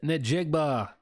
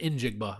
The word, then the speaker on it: Njigba: Offensive player of the year, Jackson Smith Nigbba. Or is it Injigba? I don't think you pronounce the N, do you? It's I think it's Injigba.